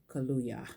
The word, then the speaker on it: Kaluuya: Daniel Kaluga yes like the drink yeah yeah I've drunk